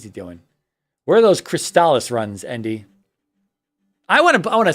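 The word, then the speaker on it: Crystalis: Yes, it is in fact pronounced Crystallis.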